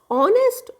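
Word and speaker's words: honest: यहां पर साइलेंट है ऑनेस्ट ऑनर अवर हेयर अब देखिए ह यहां पर जो है ना साइलेंट है हमारा अब ह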